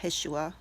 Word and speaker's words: Yeshua: That love that He gave His Son, Jesus, or Yeshua, as His name would be normally pronounced in His time, came down and died for us.